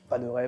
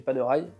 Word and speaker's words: Panerai: Panera paneraille, ça dépend. Certains utiliseront des prononciations différentes. Moi je dis paneraille, Panil même.